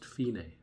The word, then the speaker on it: fine: actually spelled like the word fine but it's pronounced finae so dacapo alfine which means from the beginning